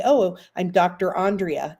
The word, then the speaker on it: Andrea: say oh I'm Dr Andrea it's pronounced on you turn me on like a light switch and then Dre rhymes with tree because I love trees